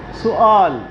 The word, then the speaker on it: سؤال: سوال نہیں ہے لفظ، سؤال عربک ورڈ ہے، تو ہمیں اس کا تلفظ صحیح آنا چاہیے.